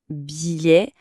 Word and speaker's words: billet: Attention à la prononciation. On dit bien un billet. On entend presque pas les deux.